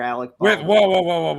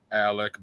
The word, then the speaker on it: Alec: expecting your seventh child with actor alex you pronounced his name wrong guy his name is murderer alec baldwin i'm sorry let me